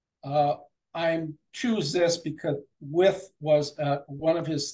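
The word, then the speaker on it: Wythe: George with anything yeah I was pronouncing it wife a lot of people do it I think that's the way you'd pronounce it if you just looked at it yeah I was corrected too when I started Jefferson so I said wife they said that's with with okay yeah but uh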